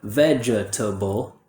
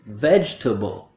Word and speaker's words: vegetable: A native speaker uses the lazy schwa in this word. So instead of vegetable, it's vegetable.